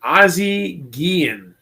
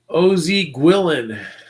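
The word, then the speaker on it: Ozzie Guillén: year so we got ozzy gehen or as some of these new breakers not pronounced oz guillen we got us an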